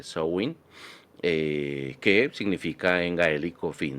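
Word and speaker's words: Samhain: in o Sao in Aunque pues se escribe Sam pero realmente so Win que significa en gaelico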